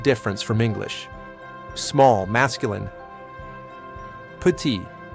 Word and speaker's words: petit: Petit, petit, the T is silent.